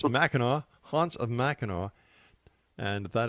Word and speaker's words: Mackinac: And once again, don't make that mistake I made by calling it machin. It's machino.